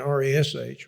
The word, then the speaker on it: Resh: the letter looks like P-E is the way they write it in English, and R-E-S-H. I'm pronouncing it Peh and Resh.